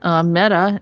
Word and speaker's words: Meta: dead to be precise meta is pronounced like the feminine form of the hebrew word a number of people